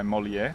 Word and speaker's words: Molière: for someone who's never read something by Molière, am I saying it right? Molière? Yes, Molière.